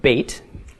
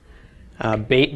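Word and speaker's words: בית: the case of Beit if it has a doggish it is pronounced as we would pronounce the English letter B but as in boy if it does not have a doggish it will be pronounced as a V okay so with the doggish is be without a doggish is v okay the numerical value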